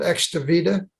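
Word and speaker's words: Extivita: the therapy is done at a clinic called excavita I'll spell that it's e-x-t-i-v-i-t-a it's on the net next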